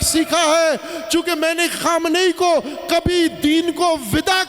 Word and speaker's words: خامنئی: لبیک یا حسین است۔ یہ پاکستانی تلفظ خامنائی کرتے ہیں، خامنئی ہے، خامنئی، خامنے شہر کا نام ہے، اس شہر سے تعلق رکھنے والے کا نام خامنئی ہے، خامنہ نہیں ہے، خامنے، خامنے، خامنئی، سب بولو خامنئی، خامنئی، لبیک خامنئی